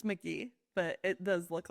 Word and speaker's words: McGehee: It's McGee, but it does look like You McGee.